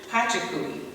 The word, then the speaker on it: Pachacuti: The ninth Inca ruler, Pachacuti, that's how you pronounce it, and his son Topa Inca were